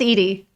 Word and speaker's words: Eddie: and then I look it is Edie okay spelled like Eddie it's okay it's I'm